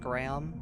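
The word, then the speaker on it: Greham: I guess I guess the name is actually technically pronounced Graham but do you know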